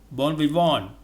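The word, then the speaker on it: bon vivant: arms in benediction five bon vivonne born with one the letter t in v i v i n t the t is silent a person who likes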